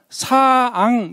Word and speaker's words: 상: 자, 여기 지금 높을 상자가 있으면은 사앙 이렇게 해야 되는 거예요.